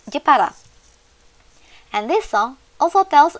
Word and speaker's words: Jepara: So, the location of Bandengan Beach is in Jeporo City or using Japanese pronunciation. In Indonesia, Jeporo is pronounced and written as Jepara.